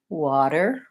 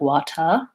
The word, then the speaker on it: water: a flap T on that tea sound it sounds pretty much like a light D so I can think of it as being water water a light D and then I'll have the correct pronunciation also watch out for that purse and at the end of water make sure that you're not using an O sound you don't want it to sound like water that's more again more British we use a strong